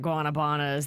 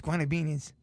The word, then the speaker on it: Guanabanas: I think everybody was at Guanabanas. The weather was gorgeous. Right. It was so Great day for it. perfect. Mm-hmm. You're saying it wrong. It's Guanabinis.